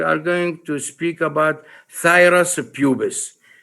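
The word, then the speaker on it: Phthirus pubis: going to speak about thyrus pubis you should know how to pronounce it thyrus pubis which is the pubic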